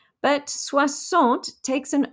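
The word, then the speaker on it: soixante: have c which is s i x but suassant takes an o so it becomes s o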